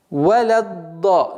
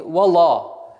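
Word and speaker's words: ولا الض: Валядда, не вала. Лям всегда мягкая, она никогда ла не будет. С твердым а не будет, она всегда мягкая. Валядда.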